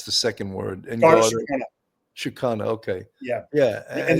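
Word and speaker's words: Síochána: And I can't pronounce the second word. Garda. Shikana.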